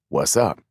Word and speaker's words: WZUP: radio station with the call letters WZUP, pronounced what's up.